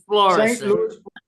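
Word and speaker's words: Florissant: but that's the right way to say it's florou that's the way they say it in the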